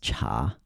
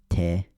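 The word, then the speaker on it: 茶: And so in regular Mandarin, in Putonghua, T is pronounced cha. In Chaozhou, T is pronounced de, like jak de. And then in Minnanhua, it's also pronounced de, te.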